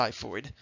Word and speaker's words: xiphoid: we have the xiphoid process weird spelling it's pronounced the xiphoid and this is just this little tip notes